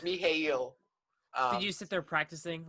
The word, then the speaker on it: Mikhail: his name it's like it looks like michael but it's me hayle did you sit there